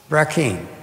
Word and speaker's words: Brackeen: And he has blessed us, and then sent this fellow by the name of Brackeen. That rhymes with green bean.